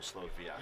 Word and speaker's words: Slovak: So like the slow slowak is like the English American English way to say it and then like the for Polish the W is a V. So slow vak.